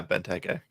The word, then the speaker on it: Benteke: Benteke, am I pronouncing that right? Benteke? Yeah, Benteke.